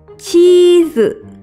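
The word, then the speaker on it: チーズ: Ditulis dengan huruf katakana menggunakan huruf chi, strip, z, cheese.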